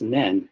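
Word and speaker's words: 念: So that this kanji is one that comes from it's pronounced nen, and you can see how it's made up of two parts, now and the heart.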